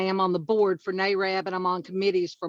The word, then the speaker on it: NAREB: That's NAREB.